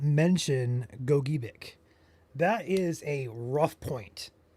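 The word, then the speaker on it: Gogebic: Half of the people say it's Gojubic. Other half say it's Goic. If there's ever confusion, we reference the state of Michigan guide for pronunciation and they say it is gobik.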